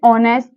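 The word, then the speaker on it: honest: आवर इसी तरह जैसे ऑनेस्ट ऑनेस्ट में भी एच साइलेंट है और ओ का ध्वनि निकल रहा है तो यहां पे क्या होगा एन अब देखिए देखिए यूज़फुल बुक।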